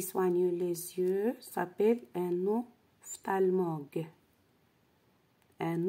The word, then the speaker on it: ophtalmologue: Le médecin qui soigne les yeux s'appelle un ophtalmologue. Un ophtalmologue. Ici, PH se prononce F.